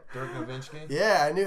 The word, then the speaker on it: Nowitzki: Dirk Nowitzki.